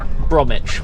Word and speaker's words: Bromwich: Bromwich, but of course it's spelt Bromwich. But you know, English places.